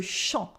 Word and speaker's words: champ: Here, you might have noticed as well that champ is spelled with an M, even though it's a en sound. Why? Because it comes before a P.